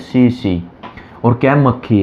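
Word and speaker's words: tsetse: कहीं पढ़ा होगा वहाँ तसे आ जाता है, एग्जाम में भी क्या तसे आ जाता है कि TSE तसे, ये नहीं है, इसमें टी साइलेंट है, जिसको कहते हैं CC।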